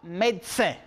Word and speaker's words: médecin: On a maintenant, pour le troisième, médecin. Puede ver médecin con una E. Pueden escuchar médecin o on peut voir médecin. Cuando la persona lo dice, sale como si fuera una T, médecin, médecin.